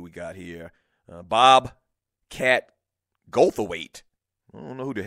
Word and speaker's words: Goldthwait: It's just, you don't have to say the T. Oh, wait a minute. Goldthwait? Bob. The TH is silent?